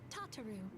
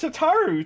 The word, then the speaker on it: Tataru: also introduce you to tataro CL Taro she said her name wrong her name is tataru tataru t tataru oh